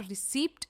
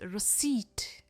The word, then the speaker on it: रिसीप्ट: खाना खाने के बाद हमें मिलती है रिसीप्ट इट्स नॉट रिसीप्ट इट्स रिसीप्ट रिसीप्ट रसीद तो डेफिनेटली